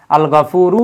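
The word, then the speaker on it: الغفور: হুরুফুল কামারিয়াত চন্দ্রাক্ষর তাইলে এই গইন হচ্ছে চন্দ্রাক্ষর এজন্য তার পূর্বে আলিফ লাম আসলে উচ্চারণ হচ্ছে আর র এটা হচ্ছে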